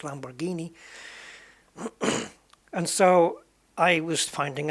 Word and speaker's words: Lamborghini: And some people say Lamborghini when it's not, it's Lamborghini.